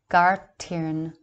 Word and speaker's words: Gair Tighearn: This word is Gair Tighearn, pronounced Gartirn, the voice, speech, or language of God.